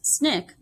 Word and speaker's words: SNCC: the student non-violent Coordinating Committee SNCC pronounced Snick a student L and